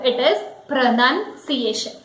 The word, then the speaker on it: pronunciation: Here we have N-U-N. So it is pronunciation.